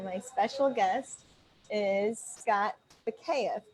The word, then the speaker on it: Bakeeff: Well, you look at the last name and you never get the proper pronunciation unless somebody told you.